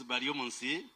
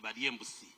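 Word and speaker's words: Baryomunsi: One time when I went to Wujisu, they pronounced my name as Bariembusi. And Bariembusi means the one who eats a goat.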